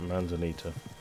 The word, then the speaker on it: Manzanita: Ah, that's how you pronounce it, Manzanita.